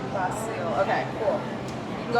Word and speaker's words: Basil: Yeah, it's spelled Basil, but pronounced Bosil. Bosil.